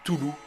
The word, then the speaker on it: Cthulhu: est certainement qu'à toulon plus souvent prononcée tulu simplement en francophonie celui ci est un